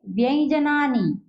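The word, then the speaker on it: व्यंजनानि: से नहीं करना है, हम व्यंजन नहीं कहेंगे, हम क्या कहेंगे, व्यंजनानी।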